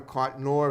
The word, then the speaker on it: Cotnoir: This young lady here, her name is Donna Cotnoir.